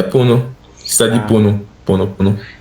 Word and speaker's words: Puno: Mas qual, qual que é, qual que é a pronúncia de Puno em espanhol? É Puno mesmo? É Puno.